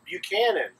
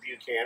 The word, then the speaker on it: Buchanan: some town somewhere named Buchan and I don't know where they are but in Georgia we don't pronounce it that way we prompt it Buchan because buck is cooler than puke so uh Buckhannon is